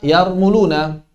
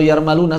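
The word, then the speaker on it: يرملون: Ketika bertemu dengan 6 huruf yang terkumpul dalam kata yarmuluna atau yarmaluna, sebagian ulama bacanya ya, ra, mim, lam, waw, dan nun. Sebagian ulama baca yarmaluna, yarmuluna, yarmiluna. 3 bacaan.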